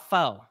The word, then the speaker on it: faux: It's called faux. Is that how you pronounce it? Faux fur? Yes. I'm so embarrassed, y'all. I couldn't pronounce the word, but I called it fox. Fox. F-A-U. But it was, how do you pronounce it? Faux? Yep. Yep. Yeah. So I'll tear up some words now. Don't give a damn. It's because of the French origin. So that's why the X is not really pronounced.